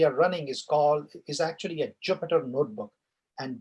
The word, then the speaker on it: Jupyter: So the notebook that we are running is actually a Jupyter notebook, and Jupyter is spelled as Jupyter, not PI. So it's Jupyter Jupyter notebook.